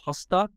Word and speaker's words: Hastad: actually correct um it's it's Norwegian so hosta is how it's pronounced in Norwegian but uh here in